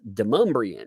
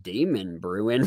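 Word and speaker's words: Demonbreun: It's pronounced Demumbrian. When you look at it, it's like my Southern came out. I was like, Demon Brewing. What is that?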